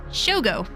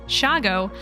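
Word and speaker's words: shoggoth: figure this out because I was reading shago spelled s-h-o-g-g-o as shogo as if it were Japanese or something when you pronounce it shago it sounds a bit like Chicago sped up or abbreviated abbreviated like nolens instead of New Orleans I actually figured it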